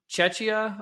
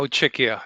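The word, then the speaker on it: Czechia: So, Ludic, you're you're from Chetchia, I believe. Is that how you pronounce it? No. Czecha Czecha Czecha because your your pronunciation is similar to Cheschna which is much more uh to the east actually.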